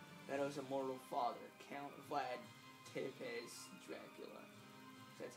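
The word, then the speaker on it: Țepeș: Trevor Belmont and Meadow's immortal father, Count Vlad Tepes Dracula.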